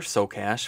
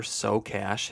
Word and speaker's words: Socash: up on YouTube, Tyler Socash, his last name is spelled like the words Socash.